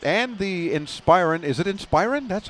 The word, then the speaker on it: Inspiron: end alienware line and the inspiron is an inspiron that's how you say it yeah of course